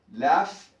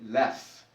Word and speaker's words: laugh: Laugh, GH adquiere el sonido F, laugh, laugh, laughed, laughed, laughed, en pasado.